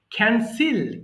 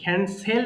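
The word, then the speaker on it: cancel: ক্যান্সিল, ক্যান্সেল বলি, উচ্চারণ ক্যান্সিল। সবাই বলি ক্যান্সিল, বাতিল করা।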